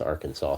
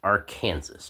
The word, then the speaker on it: Arkansas: So Kansas and Arkansas cuz Arkansas is spelled A R K A N S A S. So you would think it would be pronounced R Kansas, but it's not pronounced R Kansas.